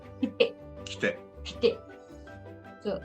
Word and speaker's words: 来て: But here, if this is the kanji and if it is te, it is not kute, it is kite. 来て、 Kite. So, kite.